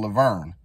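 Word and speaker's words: La Vergne: It's called Laverne. Not like Laverne and Shirley, but it's spelled V-E-R-G-N-E, I believe. And it's 2 words, Laverne.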